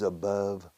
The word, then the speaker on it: above: My love for this glove is above love. All right, para la pronunciación. Love, glove, above. Above. All right. Muchos hispanohablantes nunca han aprendido la correcta pronunciación de above.